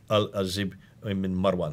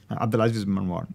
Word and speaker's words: Abdulaziz ibn Marwan: It was stated that the Cairo copy might have been written on the order of the Al-Azib ibn Marwan. Excuse me for my pronunciation. Abdulaziz ibn Marwan.